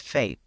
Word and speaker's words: FAPE: But when we're in meetings, we're going to refer to this as FAPE. Um, this is how they pronounce it in the meetings and it shows people, you know, what you're entitled to.